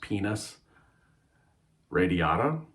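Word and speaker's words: Pinus radiata: Somebody could maybe correct me in the comments, but I believe it's pronounced penis radiata, which is New Zealand pine.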